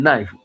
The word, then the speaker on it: knife: 啊，这个 knife KNIFE 啊，K 就无发音啊